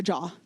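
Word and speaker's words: ཇ: The next letter that trips people up is ja. There are two correct ways to pronounce the letter ja. The first is like the J in French. For example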